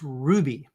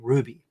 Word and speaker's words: Rouxbe: It's pronounced Ruby, as if it were spelled Ruby. Okay, Ruby.